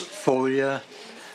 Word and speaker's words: Foglia: Next, we have Foglia. Did I pronounce that correct, I hope? Is pronounced folia. The G is silent. Oh. It means foliage like in Italian.